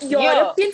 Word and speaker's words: European: Even European for that matter, your E is silent. Europe. Europe. So the sound of your is coming out. So even European here will be in this palatal, which is why we say a European.